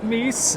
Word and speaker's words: Meese: All right, so I'm here with Meese. Is that how you pronounce it?